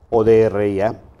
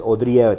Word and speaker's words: Odría: Sí, estoy en la página de Facebook, Odría, ODRIA, porque siempre dicen es es Odria, no, es Odría, tiene acento en la I, algunos no lo toman